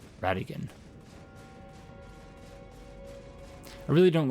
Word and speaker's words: Radagon: that's supposed to be radagon Radigan I suppose it would be gone if it were spelled g-o-n-e but it's spelled g-o-n so Radigan I really don't like